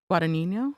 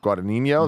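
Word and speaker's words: Guadagnino: how to say his name, but Luca Guadinho. Guadinho, that sounds right.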